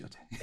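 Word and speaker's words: Yōtei: It's pronounced Yotei. Okay. See, I keep saying, Yep. I said, my first thought, I read a lot of manga, watch a lot of anime. You see an EI, it's A. It's A.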